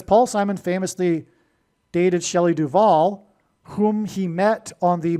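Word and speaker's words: Duvall: But Simon famously broke up with Shelley Duval, which also rhymes with Hall, at the airport before she got onto a plane to the UK to film the movie The Shining.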